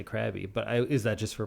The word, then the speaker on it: Krabi: I thought it was supposed to be pronounced Krabi, like a raw. Oh. But then everybody there, including Thai people, say Krabi.